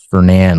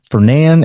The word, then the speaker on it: Fernan: Fernan Lake. So that's pronounced Fernan, not Fernan. That's a common mispronunciation. So this is Fernan Lake right here. Also has waterfront. Fernan and this little lake right here called Avondale.